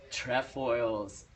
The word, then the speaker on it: trefoils: Trefoils.